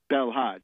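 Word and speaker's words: Belhadj: belhaj or Abdul Hakim belhaj it's belhaj uh in French it's b l h AJ and in English it's B LH a DJ he is now the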